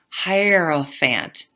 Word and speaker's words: hierophant: you for things and then we have the herant so actually I looked up I looked up online how to pronounce this it's like hierophant that's what it says I I hear it